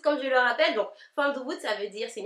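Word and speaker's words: fanm doubout: o u B O U t ça se prononce pas F about c'est F doubout comme je le rappelle donc F debout ça veut dire c'est une expression créole qui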